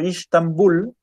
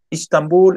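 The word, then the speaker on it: İstanbul: En turco se pronuncia de otro modo. Istambul, Estambul, ok.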